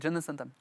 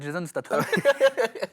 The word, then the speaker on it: Jason Statham: Et quand tu t'as demandé ton acteur préféré, c'est Jason Statham. Ouais. Alors, je l'ai très mal prononcé, donc je vais le refaire. C'est Jason Statham.